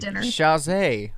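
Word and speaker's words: Chasez: What about JC Chazé or right? That's his last name. That's how you pronounce it.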